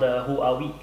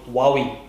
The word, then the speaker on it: Huawei: it's called it's called who are we who are we wowie that's how you pronounce it that's how they say you should pronounce it wow you mean not